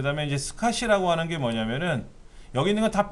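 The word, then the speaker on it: SCSI: 다음에 이 id 그다음 s 카쉬 독스 카시 라고 읽어요 콩 볼 이슈를 스카시 이렇게 거야 근데 이거는 개인용 컴퓨터에서 사용하던 방식이고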